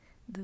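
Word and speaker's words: θ: line going through it, and it's pronounced th. I think it's like a Greek letter, like theta or something. I don't remember, but in IPA, this is just the phoneme.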